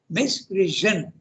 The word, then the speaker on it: misprision: the word is pronounce misprision okay there's an SI but pronounced Z like okay so the